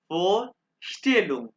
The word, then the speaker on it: Vorstellung: फोर स्टेलुम, फोर still, S टी इकट्ठा आवाज pronounce हो रहा है, तो श की आवाज निकाल देगा।